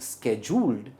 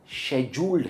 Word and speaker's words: scheduled: और इसकी pronunciation स्केड्यूल्ड नहीं है, स्केड्यूल्ड है या फिर शेड्यूल्ड है। शेड्यूल्ड एक यूके प्रोनाउंसिएशन है और स्केड्यूल्ड यूएस प्रोनाउंसिएशन है।